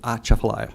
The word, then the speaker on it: Atchafalaya: I've only been in the state about 7 months, so I just learned that you pronounce Atchafalaya by pretending like you're sneezing, so Atchafalaya.